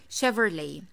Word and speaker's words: Chevrolet: is quite easy but we have to take care of two vowels in this brand the first e and the second o i do not pronounce